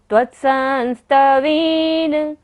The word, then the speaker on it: त्वत्संस्तवेन: त्वसंस्तवेन भव संतति सन्निबद्धम् पापं शनात् क्षयमुपेति शरीर भाजाम् आक्रांत लोक मलिनील मशेषमाशु सूर्यांशु भिन्नमिव शार्वर मंधकारम् त्वसंस्तवेन त्वत्संस्तवेन आधा ता भी है और पूरा ता भी है।